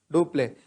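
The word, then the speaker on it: Dupleix: who is the governor of english in india do play was the governor of french in india do play so it is because of duplex role majorly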